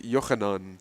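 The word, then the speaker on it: יוחנן: So it's based off of my name, which is, because in Hebrew it's pronounced Yochanan, and it's spelled Yochanon.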